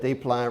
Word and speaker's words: Desplein: And the other guy is more difficult because we don't pronounce that S, right? And it's, okay, so it's two syllables. It's not Desplein or anything like that again.